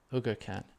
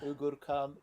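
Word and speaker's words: Uğurcan: That is C with that thing under. That's ch sound. So, Ugurcan Chakur. Chakra. And U is U is often pronounced O.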